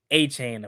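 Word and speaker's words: Etienne: Apparently, it's not ETN. Yeah, like nobody say how is that? It's weird. That? Yeah, he said that. Yeah, they was like, yeah, apparently we've been pronouncing it wrong. Like what? Yeah, he said his name is. Yeah, his name is Travis A-Chain apparently.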